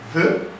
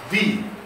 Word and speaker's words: the: Le THE a deux formes de prononciation, soit VE, soit VI.